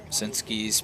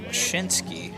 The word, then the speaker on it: Mosinski: I did check the pronunciation guide for him as well, because I thought it would probably be Mashinsky, but it is Mosinski.